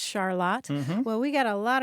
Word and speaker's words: Charlotte: Charlotte and being surprised that it looked like Charlotte but it's pronounced Charlotte well we got a lot of responses from